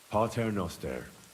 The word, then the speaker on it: Pater Noster: Pater Noster.